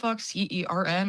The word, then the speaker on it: CERN: Uh, CERN or whatever the C E R N. I don't know. I I pronounce CERN.